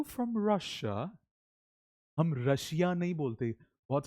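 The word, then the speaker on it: Russia: आर you from रशिया? हम रशिया नहीं बोलते। बहुत सारे लोग क्या बोलते हैं? रशिया। रशिया नहीं बोलते। हम बोलते हैं र ये इसकी पोनेटिक फनेटिकली करेक्ट प्रोनंसिएशन है। क्या बोलेंगे? रशिया।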